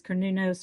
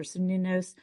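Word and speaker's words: Cernunnos: um the cernunos's or I believe it can be pronounced different ways kernunos or snunos um the wild man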